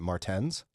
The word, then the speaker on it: Martens: with Christian author Matthew, I think he pronounced it Martens. Yeah. Yeah. I called him Matthew Martins all morning, and I feel embarrassed.